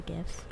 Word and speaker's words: GIF: yeah I like the gifts I'm just like it's GIF like the peanut butter oh yeah I don't